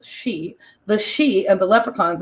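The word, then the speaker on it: sidhe: the fairy folk the it looks like siddhi but it's pronounced she the she and the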